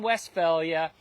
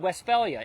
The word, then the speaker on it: Westphalia: region of Germany called Westphalia although it's not spelled with an F it's pH and it's a little